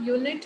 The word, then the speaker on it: unit: जब आप यूनिट word pronounce करते हैं तो कौन सी साउंड आती है पहले? U. हाँ, य की साउंड आ रही है ना, तो ये कॉन्सोनेंट है, इट इज नॉट a vowel sound, तो यहाँ पे अ यूनिट आएगा.